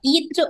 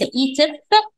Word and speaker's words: ايت: الاف هنا مخصص وليس علامة صوتية، هي نطقها ايت وليس ايتف، وعرفنا ده من النطق القبطي بتاعها ان مفيش حرف الف.